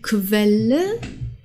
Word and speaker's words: Quelle: Julia der Januar jung dann haben wir qu und das wird zusammen wie kW ausgesprochen also die Quelle die Qualität und die Quantität okay wir haben mehrere Wörter die mit qu beginnen die müssen dann als ausgesprochen werden okay vielleicht kannst du das noch mal wiederholen Quelle Qualität und Quantität okay also nicht Quelle und nicht Qualität okay